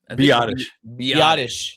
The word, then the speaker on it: Biadasz: Biadasz.